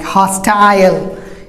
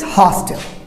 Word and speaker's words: hostile: As I told you, that British will go for I sound, like hostile, and Americans hostile.